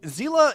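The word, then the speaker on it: Seele: But Sealy is how I've always pronounced it, and I like the idea of it being pronounced like Sealy because it sounds like the little like fairy things, and that really suits thematically, I think, with her.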